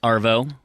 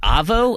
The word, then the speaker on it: arvo: In the Arvo, buddy. Is it Avo, A-V-O, or is there an R in there? There's an R, Arvo. Like, if you're going to spell it, you'd do A-R-V-O.